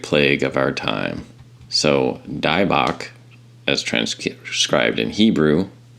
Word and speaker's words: Dybbuk: specific demon a demon in hebrew which is pronounced as divak or sometimes spelled daibok but d-i-v-o-c what does that spell backwards oh yes the great plague of our time so dibach as trans described in hebrew means possession by